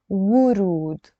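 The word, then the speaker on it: ورود: In standard Arabic, we pronounce it wurud with a dhamma.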